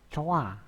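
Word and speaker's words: 좋아: Contohnya gini, coh a dibacanya menjadi coa. Itu jadi hanya dihilangkan karena tidak ada bacim ya.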